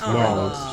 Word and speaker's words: New Orleans: That's Nolans. That's Nolans. If you're going to say it, I need you to say it right.